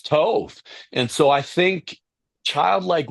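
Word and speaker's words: טוב: Is it tov? Is that how you pronounce it? Tov? Tove.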